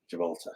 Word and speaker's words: Gibraltar: last comment Telly lad why don't you pronounce the or at the end of jalter jalta jalter jial jalta jalta because we're Irish and that's what we do jalta um and great